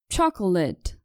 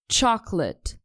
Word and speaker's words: chocolate: I can't Nuwas chocolate in the US people pronounce it like this chocolate and in British it's only two syllables chocolate example James enjoys drinking